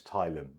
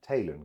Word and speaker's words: Taylan: Middle name was, how we pronounce it is Thailand. But in England, they pronounce it Taylan because it's got an A.